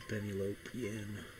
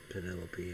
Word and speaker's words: Penelope: Take bands to pennyopen. Penelope. I know how to say it. I just always do it wrong because I find it amusing.